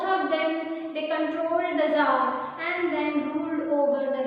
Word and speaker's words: Tsar: It is said that the Russian Empire ruled by the dynastical kings known as the Tsar, T-S-A-R, T is silent there, and Nicholas I, Nicholas